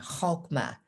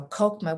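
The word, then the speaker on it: Chokhmah: now just a comment copma has the pronunciation with the guttural sound hokma but it's hard for english speaking people to do that so kokoma with the k sound is just fine then bina is across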